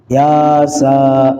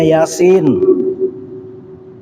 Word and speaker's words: Yasin: kan Ya nah salah Pak Yasa eh salah itu bacanya Yasin ini barisnya juga di atas dua-duanya itu bukan baris ya Bu harakat itu ngambek dianya ya Nah guru Saya bilang ini bacanya Yasin biasa dikasih tahu ngambek marah ah ini enggak dapat tapi ketika dikasih tahu Yasa bukan Yasa Pak Yasin oh ya Yasin oh iya dibaca Yasin ahah itu baru dapat dua